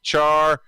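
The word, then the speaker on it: Charmander: Char-man-der.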